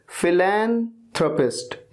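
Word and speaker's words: philanthropist: करते हैं people don't respect next word फिलैंथरोपिस्ट फिलैंथरोपिस्ट इस तरह से इसे प्रोनाउंस किया जाएगा फिलैंथरोपिस्ट का मतलब होता है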